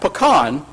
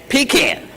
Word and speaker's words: pecan: opens it and by the way it is pronounced pan not pean so if you've been saying pean you got